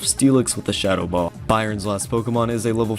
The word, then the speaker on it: Byron: is the still type gym leader Byron get it because it rhymes with iron gamefreak I'm going to